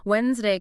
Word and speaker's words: Wednesday: But over centuries, the pronunciation softened. That sound just vanished for most people. But the spelling stayed.